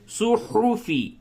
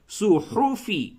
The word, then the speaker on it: صحف: صحفی، ہا کی ادائیگی حلق سے اچھی طریقے سے کریں، صحفی، صحف ابراہیم وموسیٰ.